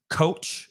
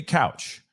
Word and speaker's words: Couch: so many different ways even her I've heard couch coach it's been crazy but it's Beauty couch and it's Katara okay